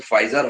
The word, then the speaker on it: Pfizer: আর আপনার সম্ভবত খেয়াল করেন নাই একটা শব্দ, multinational pharmaceutical company, American company, ওটার উচ্চারণ কিন্তু ফাইজার হবে, সম্ভবত আপনি এটা বলতে চেয়েছিলেন, PFIZER।